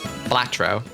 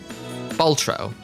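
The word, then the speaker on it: Balatro: Please pronounce it correctly, streamer. How? Baltro. Baltro. Oh, thank you. Right. It's I'm I thought there was an A in the middle.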